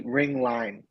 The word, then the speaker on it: Ringlein: way yeah it's ring line so like a ring and a line yeah um but yeah